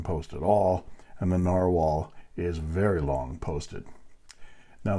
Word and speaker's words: Nahvalur: This is Clairefontaine 90 GSM paper, and this is the Narwhal spelled Nahvalur, but pronounced Narwhal.